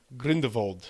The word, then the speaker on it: Grindelwald: beasts the crimes of green devold thank you I his name should be pronounced with a V that just sounds evil er right well more